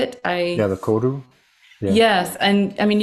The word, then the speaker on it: koru: Yeah, the koru.